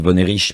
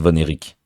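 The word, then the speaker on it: Von Erich: du film j'avais dit la famille voner rich mais en fait ça se prononce vonéic désolé pour résumer l'histoire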